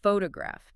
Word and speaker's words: photograph: the vowels physically mutate like the word photograph. Phtoraphph has distinct clear o and a sounds. Right. But if I change the stress to the second syllable, it becomes foto giraffer. The first o turns into a lazy uh sound.